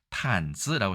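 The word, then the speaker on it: 毯子: 이걸 탄즈라고 해서 이게 탄입니다. 발음이 담이 아니라. 그래서 양탄즈.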